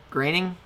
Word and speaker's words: Groening: Groening? Graining. I've never heard his name actually pronounced.